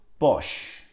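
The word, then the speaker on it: Bosch: ile yazılırdı benim ismimi Dolayısıyla bu markanın doğru telaffuzu boş bildiğiniz boş yani boşuna boşu Evet arkadaşlar Bu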